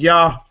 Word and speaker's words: Yahuwah: And when you study, it pronounces Yahuwah. Like that, you know.